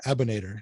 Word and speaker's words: Abonator: It's like Terminator. It's easier to put out that way. It's like Abonator, so Michelle Abonator.